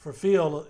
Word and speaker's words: Phil: He says, in my Southern Virginia accent, I try to add an extra syllable. Phil. He's quick to say that it's one syllable, Phil.